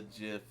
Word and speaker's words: gif: because the person who invented that format pronounced it that way and he has said word of God that it does not matter so I've been given for pronouncing it gif it's absolutely pronounced that way it's absolutely pronounced that way you can do it either way totally fine the tangents but